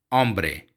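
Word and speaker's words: hombre: मैन को, आदमी को कहते हैं ओम्ब्रे, इसमें एच साइलेंट होता है।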